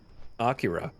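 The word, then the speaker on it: Akira: the Shell is like as influential as like Acura if I'm even I I just realized how how do you pronounce that out loud I I I think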